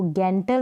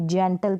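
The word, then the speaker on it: gentle: इसको गैंटल नहीं करेंगे, जेंटल करेंगे।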